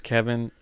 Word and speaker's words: Keven: Well, yeah, my name's Kevin. I go by Kevin, so yeah, when you start saying Keven, you just sound like a telemarketer or something.